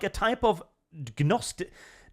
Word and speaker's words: Gnosticism: The trans view of true self is like a type of Gnosticism. How do you pronounce it? Is that a silent G?